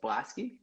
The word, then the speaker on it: Blaskie: your last name's pronounced Blasky?